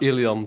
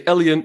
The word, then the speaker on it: Elian: um hi everyone um I'm ilon uh which is my complete name Elon if you say elen it's also fine because in English it's kind of difficult to pronounce no problem at all